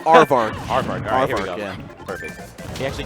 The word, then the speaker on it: Aarvark: right I I actually don't know how to pronounce his name so I'm just it's arvar arvar all perfect he actually came over here